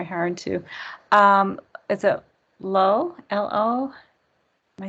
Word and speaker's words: Lo: L-O?